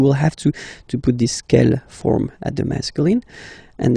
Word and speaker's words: quelle: And then the feminine form is written like that, Q-U-E-L-L-E, but it's pronounced like the masculine form. Quelle at the masculine, quelle at the feminine. Okay, so it's basically same pronunciation.